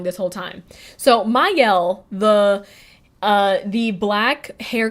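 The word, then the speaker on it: Mielle: that was their whole big thing is like Mel or actually I think it's supposed to be pronounced mayel yeah actually I was watching I was watching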